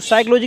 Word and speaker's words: psychology: बात करें ना, तो साइकोलॉजी की मीनिंग सुनाओ। साइकोलॉजी की पी से शुरू होती है। PSYCHOLOGY। और कुछ लोग तो ऐसे शुरू कर देते हैं, है ना? हाँ, P साइलेंट होती है इसमें सर।